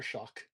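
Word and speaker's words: Shough: You know, the poor man's name is Tyler Shock. you know, let let's at least get his name pronounced correctly, even if we're going to disparrage him correctly.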